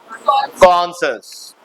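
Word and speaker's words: conscious: आई ओ यू एस यहां पर सी जो है व साइलेंट है ध्यान रखना सी ओ एन एस सी आई ओ यू एस कनस में सी साइलेंट है पहला सी को एस पढ़ रहे हैं पहला सी को क पढ़ रहे हैं और दूसरा सी साइलेंट हो जा रहा है तो क्या पढ़ोगे कॉशस नेक्स्ट कंसीक्वेंस कंसीक्वेंस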